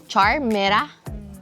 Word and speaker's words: Charmera: Kodak charmera. Charmera ang bigkas non.